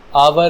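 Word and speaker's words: hour: निकलती है ठीक है जैसे है या है आवर या आर ऑनेस्ट ऑनर यहां पर एच की साउंड साइलेंट है ठीक है जब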